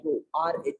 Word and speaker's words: rho: This is pronounced as rho, rho.